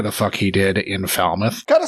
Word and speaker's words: Falmouth: I mean, it's Falmouth. That's how it should be pronounced.